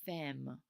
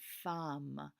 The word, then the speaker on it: femme: a woman now guys remember not to say femme femme is not the correct pronunciation we want to say from we're going to pretend like there's an a there where that e is from i have a